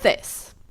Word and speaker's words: this: The second one is long, like these. The first one is short, like this.